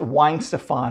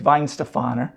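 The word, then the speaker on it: Weihenstephaner: it isn't isn't pronounced wine Stefan or it's Vine Stefano okay and again of ice beer now as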